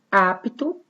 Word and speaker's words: apto: Apto, também pronuncio bem o P.